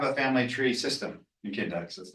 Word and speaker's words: Kindex: It is pronounced Kindex, the index of your kin. Someone came up to me at RidgeTech once and they said, I wish I had a kind X.